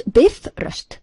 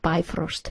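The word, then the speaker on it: Bifröst: us man Fully Alive pronounce Biff rust not by Frost please Biff is flickering or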